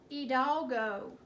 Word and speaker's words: Hidalgo: the tricky word is heed all go okay it looks a little different than how we say it but that's okay alright the word hidalgo is pronounced a little